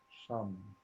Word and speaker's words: Sham: répéter mentalement, silencieusement pour vous-même, en vous, la syllabe Sham.